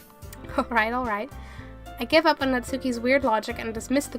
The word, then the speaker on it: Natsuki: Your pronunciations are, but if I'm right, the U in Natsuki is kind of silent. It's more like Natsuki. Natsuki.